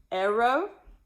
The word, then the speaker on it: ero: Ero, eris, erit, Aramis, eritus, erit. All right, so I do have some pictures to help us with the pronunciation. Arrow, like an arrow.